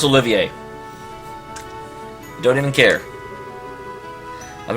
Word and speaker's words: Olivier: No, his name is pronounced Olivier. Don't even care. I've been around the block a few times, but I've never seen anything like that. I'm not saying Oliver, I'm saying Olivier.